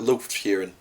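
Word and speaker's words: Lufgt Huron: I call it Lufthuron, which is a little bit wibbly, but I call it Lufthuron.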